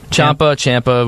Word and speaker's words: Ciampa: Ciampa.